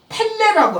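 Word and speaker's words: פלא: 그래서 히브리어로는 펠레라고 하는 거예요.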